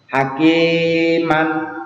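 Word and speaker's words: حكيمًا: Alif atau duakat ya contoh ya hakiman tulisannya hakiman Maka kalau itu Mad Iwat maka dibaca hakima ya contoh lagi Aliman tulisannya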